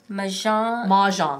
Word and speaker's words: Mahjong: Mahjong.